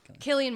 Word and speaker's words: Cillian: Killian Murphy. Killian Murphy. Silly Killian. Whatever. You should spell his name with a K if he wants everyone to pronounce it correctly.